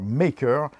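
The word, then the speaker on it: D'yer Mak'er: qu'on retrouve et bien un morceau au titre absolument imprononçable d'ailleurs maker qui est en fait la prononciation phonétique en anglais de jamal kada et maïka avec l'accent et la patate chaude dans la bouche morceau qui est en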